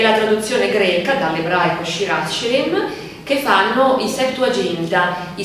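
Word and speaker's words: שיר השירים: diamo la locuzione ebraica Shir Ashirim, bisogna pronunciarla in maniera forse più gutturale, più forte, ma non sono capace.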